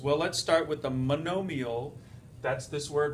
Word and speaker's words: monomial: Polynomials, well let's start with the monomial, that's this word right here, M-O-N-O-M-I-A-L, pronounced monomial, mono meaning one.